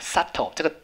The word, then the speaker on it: subtle: other than other more 其他的 more subtle 要会哈 subtle 这个 v 没有发音哦 subtle 叫做很细微的，好，这个字当然就是很多学生的挑战啊，就是为什么 v 不发音哈 subtle 会很细微的，它的副词叫 subtly，去掉